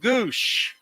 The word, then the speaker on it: Gwosdz: Doug Goosh, real or fake 1984 Padre?